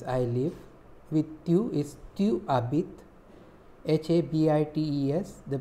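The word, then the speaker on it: tu habites: With tu is tu abit, H-A-B-I-T-E-S. The pronunciation is same as H-A-B-I-T-E, because S we do not pronounce it.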